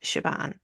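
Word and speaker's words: Siobhan: s i o b h n but it's pronounced shabon yeah cor okay I like that that's cool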